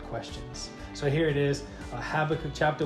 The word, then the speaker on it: Habakkuk: And just had a quick little word I wanted to share with you out of the book of Habakkuk. Think that's how you pronounce it?